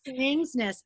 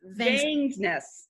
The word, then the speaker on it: Vangsness: Vangs, yeah, like Vangsness. Vangsness.